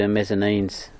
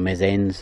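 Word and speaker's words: Messines: I will be shortly, down into Mezzanines, or Mezzens as they pronounce it, which is just to my right.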